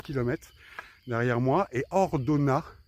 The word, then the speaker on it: Ordonnaz: km derrière moi et hordona il y a un Z à la fin mais il se prononce pas qui a 1 km